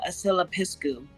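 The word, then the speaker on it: Aslla Piscu: Its pronunciation is earthbound immortal asylapiscu.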